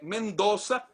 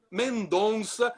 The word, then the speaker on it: Mendoza: E o Rizek pronunciou de forma corretíssima o nome da província, que é Mendoza, e não Mendonça, como muitos turistas que aparecem por aqui dizem.